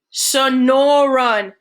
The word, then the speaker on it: Sonoran: crew of boys snickers sonoran ben pronounces the word slowly it's the name of the desert around where i lived in tucson so no run snoring frankie sneers whatever